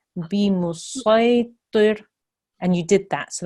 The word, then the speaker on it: بمسيطر: In this instance, or in this circumstance, we need to pronounce the sword, not the scene, which you did. So we had a thick sound there, so that was really good. So it's bimusaytir, and you did that.